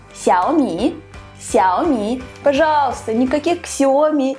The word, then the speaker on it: Xiaomi: Давайте заодно разберемся, как же правильно произносится название китайских мобильных телефонов. Это Huawei, Huawei и Xiaomi.